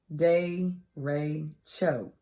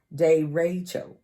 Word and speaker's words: derecho: Derecho. Derecho. It's pronounced D-E-H, day, and then capital R, capital E, capital Y, like Ray, and then C-H-O, so cho. Derecho.